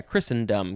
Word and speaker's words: Christendom: with a capital c it doesn't say it's christ yeah christendom because there's a en in there noun from before the